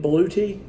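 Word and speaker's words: BLUETTI: on the pronunciation of I say blue Eddie A lot of people are saying they're pronouncing it Bluey I don't know I like blue Eddie so I'm going to stick to that so be it Spelling's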